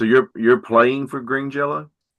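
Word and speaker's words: Jellÿ: umalots over the Y and they say it's pronounced jello.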